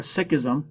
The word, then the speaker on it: Sikhism: Sikhism, or Sikhism, as I've heard pronounced Sikhism before, is a new religion that starts in the early modern era.